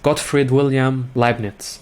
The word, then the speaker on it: Gottfried Wilhelm Leibniz: it even in school, is Gottfried Wilhelm Leibniz. So this is the German way how to pronounce his name.